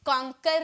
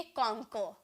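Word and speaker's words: conquer: ये जो लास्ट में र जो होता है ना, इसका जो प्रोनाउंसिएशन की जाती है हाफ में की जाती है। कॉन्कर नहीं बोलेंगे, ओके, हम बोलेंगे कॉन्कर, कॉन्कर, ओके, इस तरह से बोलेंगे, हाफ में प्रोनाउंसिएशन करेंगे।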